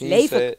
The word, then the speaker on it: Leven: It's Leven. Yeah. Yeah, Leven Kali. Whoa. That's how your name's supposed to be pronounced.